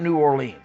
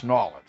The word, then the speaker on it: New Orleans: You want to say New Orleans, you can say New Orleans, but it's people down there go Nawlins.